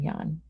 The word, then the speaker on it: Jan: private sector yeah um jan scruggs who's a vietnam veteran and wounded in in duty someone who's pronounced his name yan anyway the point being